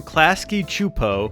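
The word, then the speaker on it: Klasky Csupo: And in the summer of 2003, the Rugrats and the Wild Thornberries, both from Klasky Chupo, we looked that up, that's how you pronounce it, met up in a full movie called Rugrats Go Wild.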